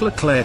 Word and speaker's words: Leclerc: The resulting AMX-56 Leclerc, pronounced Leclerc, took its name from the French general whose armored division liberated Paris in 1944.